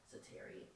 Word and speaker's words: Setari: I'm a part of the fan club of the Tabitha Setari fan club. Setari. You know what? You said it right the first time.